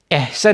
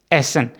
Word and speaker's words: essen: ISST जो है east, इसका मतलब है खाना, क्योंकि ये वर्ब है एसन, एसन है, एहसन नहीं एसन, ESSEN, ठीक है।